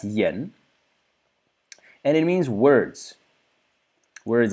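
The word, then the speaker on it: 言: And it means, well, it's pronounced yen, and it means words.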